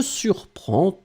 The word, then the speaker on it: surprend: The important thing in that case is to remember that first, you will pronounce them exactly the same way. Surprend, surprend, surprend. But you will have to write them differently.